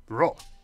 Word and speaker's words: grogs: The one spelled grogs gets pronounced ta, and grogs, why that's ro.